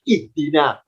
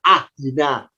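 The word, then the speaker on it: اهدنا: Kenapa kita terbiasa bacanya ihdina? Kok tidak ahdina? Kok tidak uhdina? Ya, karena huruf ketiganya kasrah. Karena dalnya kasrah, alifnya ikut kasrah.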